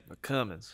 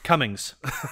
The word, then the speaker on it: Cummins: Cummins. You got to say it right. Cummins. Cummins. Cummings.